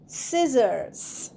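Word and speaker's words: scissors: next comes S সি আই এস এস ও আর এস সিজারস সিজারসেও সি উচ্চারণ হবে না সিজার সিজারস মানে আমরা সবাই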